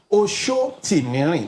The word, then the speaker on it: Sotimirin: Shotimeri, that's the full pronunciation.